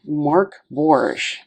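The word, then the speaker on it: Mörk Borg: purchased pretty easily and the indication here that mork borge is swedish for dark fort and is pronounced mark borge i did my best looking here at the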